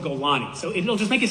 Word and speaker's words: Golani: The second way, the same way you said that there's a Golan brigade. There's no Golan brigade. It's called Golani.